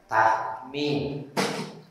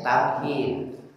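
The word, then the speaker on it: تحميد: Tahmid. Diurang disebut tahmid. Sanes tamhid.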